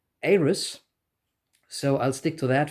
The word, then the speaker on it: Euros: Um, I would have pronounced it Euros, but I've come to learn that it's rather pronounced something like Aris, so I'll stick to that for this video.